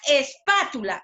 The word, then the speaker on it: espátula: Ahora, la sílaba la es la última sílaba, quiere decir que es el último lugar. Luego de la última tenemos la penúltima sílaba, que es la tu, la antepenúltima sílaba, que es la pa, donde está recayendo la mayor fuerza de voz, ¿cierto?